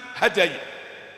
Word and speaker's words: hadait: “ Allahummahdina fiman hadait.” Jangan dibaca sebagai "hadai." Itu berasal dari bentuk lampau "hada," yang berarti membimbing.